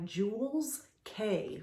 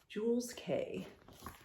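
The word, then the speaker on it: Jules Kea: Okay, this purse is by Jules K, which is spelled K-E-A, Jules K.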